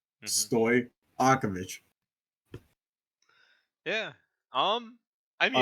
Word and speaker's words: Stojakovic: a lot easier because I just want to hard pronounce that J in his first name. well, it turns out you just don't. Yeah. J and Y are the same thing. Hmm. Stojakovic.